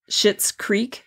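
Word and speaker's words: Schitt's Creek: say but it's um shitz Creek 2.0 and if you know about this show it's a um a Netflix show and it's spelled s c TTS so um uh anyway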